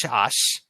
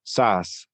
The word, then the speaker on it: Szasz: talking about and Thomas Szasz. Did I pronounce that right? I've heard that his last name is supposed to be pronounced as you would say Saskatchewan, so it's Sas.